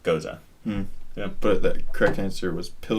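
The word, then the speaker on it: Gose: gozos before but I was like is it pronounced Jose or I didn't see a ghost I didn't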